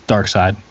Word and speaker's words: Darkseid: For some reason, even when I hear Doomfist, I just think of an image of Darkseid, or Darkseid, however you want to pronounce it. It's Darkseid. Yeah, Kiss it's my ass.